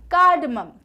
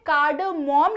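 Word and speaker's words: cardamom: ठीक है, तो इलायची को हम इंग्लिश में क्या कहते हैं, कार्डमम। कार्डमम। अब यहाँ पे कार्डमोम नहीं, कार्डमम, कार्डमम।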